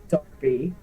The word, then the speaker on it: Derby: I hate that that is pronounced Derby.